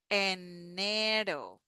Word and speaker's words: enero: And you may hear that the R here, it's different. It's do, do. So we begin the tip of the tongue on the upper part of our mouth behind our teeth in the upper palate. Enero, do, do, do. It's similar like when we say butter, butter. So that flap T that we have in butter, that is the same sound that we have in ro, enero.